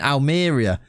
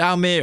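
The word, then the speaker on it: Almería: We're back at Almeria. I definitely said that wrong last. I was saying Almeria. To be fair, I did Google it and it said Almeria. I was wrong.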